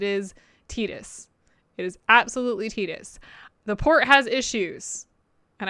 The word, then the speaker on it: Tidus: passing about tas's name not being tetus it's Titus well I think it was meant to be